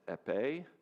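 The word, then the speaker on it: épée: There's one called foil that's pronounced epe and then there's saber.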